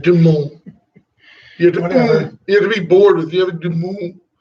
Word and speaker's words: Du Monde: There's no D pronounced though. It's gonna be Du Monde.